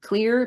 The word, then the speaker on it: Xlear: I used to do Xlear or Clear, but it's spelled X L E A R, and they have an adult version and a baby version.